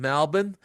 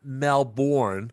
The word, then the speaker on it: Melbourne: It is um Tuesday evening and uh uh Durham is in Melbourne. Uh which uh by the way l uh ladies and gentlemen I'm saying it correctly. It's not Melbourne, it's Melbourne.